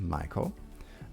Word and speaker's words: Maiko: Maiko is pronounced Maiko, means a person in the apprenticeship stage of Geiko.